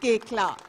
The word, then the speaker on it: Koechlin: It's pronounced Koechlin.